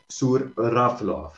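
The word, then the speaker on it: Zhuravlov: El apellido, su nombre es Volodymyr Shuravlov. Se escribe Z.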